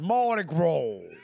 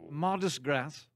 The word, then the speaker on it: Mardi Gras: Number one, incorrect. It's pronounced Mardi Gras. Mardi Gras? Where was the first official Mardi Gras celebration? Mardi Gras. Mardis Gras.